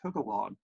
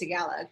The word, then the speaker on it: Tagalog: chinese japanese vietnamese and togolog and i hope i pronounced that last language correctly yeah i think it's tagalog but actually um i